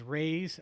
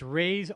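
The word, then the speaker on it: Rui's: sponsor of ours is rey's um shanghai bistro in redlands and rey's is spelled r-u-i apostrophe yes shanghai bistro it's on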